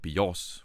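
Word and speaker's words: βιός: Playing on the fact that in the tonal Greek language, bios is life, and bios, with the accent on the omicron, means bow.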